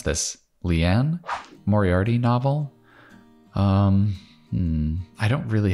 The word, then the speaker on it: Moriarty: you pronounce this leanne moriarty novel um i don't really have hbo so i don't know if i know this it's moriarty like in sherlock quick post wedding getaway